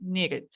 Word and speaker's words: needed: Entonces ahí voy a decir needed. Entonces, cuando los verbos terminan en T o D, voy a colocar el sonido de ED.